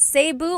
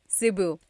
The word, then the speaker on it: Cebu: So, technically in the Tagalog alphabet, the letter E can be pronounced E or E like the letter I. So, I say Cu. Cebu. And I know some people say Sabu, but usually it's either Cebu or Sebu.